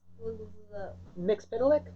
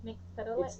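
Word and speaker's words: Mxyzptlk: Mixpidalic? Yeah, I can never say it. Can't say it? Mixpidalic? It's been, that's how they say it in the Superman animated series.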